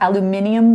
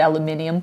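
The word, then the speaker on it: aluminium: eyes so your credit I do think the British have aluminum right over aluminum so I do say aluminum there we go yeah so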